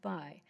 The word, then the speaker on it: Bay: B A Y H pronounced by because nobody can say it. Can you get closer to the mic? I apologize. Hello to everyone. My name is B. B- A Y pronounced by.